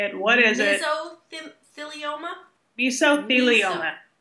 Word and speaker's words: Mesothelioma: Mesothelioma? Mesothelioma. Meso. Yep. Like miso soup.